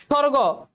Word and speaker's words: স্বর্গ: স্বর্গ, সবগ হওয়ার কথা, বয়ের কোনো উচ্চারণ নাই।